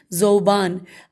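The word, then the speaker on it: ذؤبان: بعض لوگوں نے زوبان، اب یہ ورڈ انورٹڈ کاما میں ہے اور ہم اس کی ہجے کریں گے، زال واو، واو کے اوپر حمزہ ہے، زوبان بے الف نون، زوبان.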